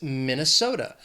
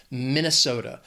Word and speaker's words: Minnesota: And very close to Michigan is Minnesota. 4 syllables, stress is on that 3rd syllable, that so. That 2nd syllable is just the schwa, Minnesota.